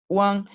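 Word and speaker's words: wán: Fíjense, a ver, primero se hace una U corta y ligera y luego una AN larga y enfática. One, cuando forma una sílaba por sí misma sin inicial, se escribe W-A-N, como está acá.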